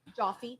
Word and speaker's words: Joffe: How do you say your last name? Coffee. Joffe. Light coffee. Coffee with a J.